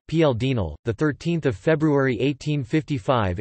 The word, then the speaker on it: Paul Deschanel: Paul Eugene Louis Deschanel, French pronunciation PL Dinel, the 13th of February 1855 in Cherbique, the 28th of April 1922, was a French statesman.